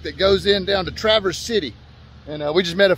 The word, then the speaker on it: Traverse City: This is not Traverse City as it's spelled. They say Traverse City. Traverse City, like one word.